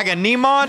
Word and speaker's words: Agamemnon: Agamemnon?